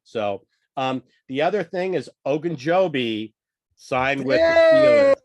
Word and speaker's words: Ogunjobi: So The other thing is Ogunjobi signed with the Yeah, Steelers.